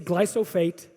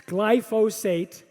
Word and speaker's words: glyphosate: ingredient is called glyphosate everyone's everyone pronounces it wrong they always say glycophage it's glyphosate or they say glyphophosphate glyphosate so that's my first i'm teaching you know glypho glyphosate glyphosate okay don't don't take it